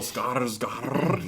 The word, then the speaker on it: Skarsgård: And seeing their journey and seeing both of their relationships with Count Orlok, played by Bill Skarsgård, Bill Skarsgård. Yeah, roll the R's.